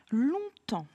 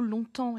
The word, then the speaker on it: longtemps: un petit peu compliqué il a plusieurs lettres muettes la première long ici donc ce mot longtemps est composé de deux syllabes écrite long étant l'on vient de la famille de long la longueur c'est la même façon d'écrire l'adjectif donc on fait attention à la lettre g étant tmps attention ici